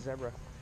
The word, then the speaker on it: zebra: Hey, look at the zebra. That's how they say it everywhere else in the world. Zebra. Like Debra, but... Yeah.